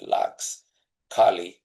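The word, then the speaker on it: tlaxcalli: So instead of calling it tortillas, the indigenous people called it laxcali. And in your own respective ways, I'd like to have you practice that word. The T is silent, so you start with laxcali.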